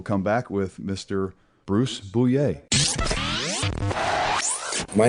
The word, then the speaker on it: Bouillet: It's Bouillet, so it's basically like being at a sporting event. Boo and yay put together.